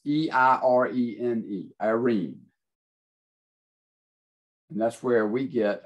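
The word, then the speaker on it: εἰρήνη: word for peace it's it's i'm going to spell it for you it's e-i-r-e-n-e irene and that's where we get our english word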